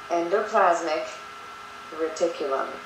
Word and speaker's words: endoplasmic reticulum: Zoom back out and let's talk about pronunciation all right so Endo plasmic re Tulum okay want to try it with me endoplasmic reticulum and that is singular